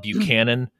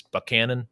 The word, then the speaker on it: Buchanan: It was on, although I've been told by native Texans that I'm pronouncing the name wrong, but it's spelled Buchanan, but I think the way that you're supposed to pronounce it is Buchanan or something like that.